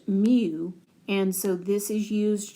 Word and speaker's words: mu: It's actually pronounced mu and so this is used to represent the